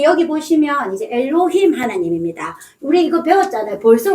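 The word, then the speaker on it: אֱלֹהִים: 그래서 들이라는 뜻입니다.요 가운데 있는 글자는 해인데 우리가 아직 배우진 않았으니까 제가 발음만 얘기해 드릴게요. 히업 발음이 납니다. 그래서 우리 하나님의 이름은 뭐라고요? 엘로힘.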